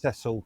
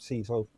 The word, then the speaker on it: Cecil: Now, his name is pronounced Cecil, not Cecil.